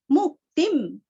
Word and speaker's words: मुक्तिं: पापैर, पापैर भुक्तिम, भुक्ति का ती भी रस्व है, भुक्तिम, भुक्तिम, मुक्तिम, मु रस्व ती रस्व अनुस्वार का उच्चारण आधा न, मुक्तिन, च विन्दति, च विन्दति, वी और ती दोनों भी रस्व है।